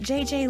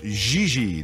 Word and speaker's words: Gigi: En français, you pronounce G like J and J like G. She may very well be JJ in America, but in France, she is Gigi.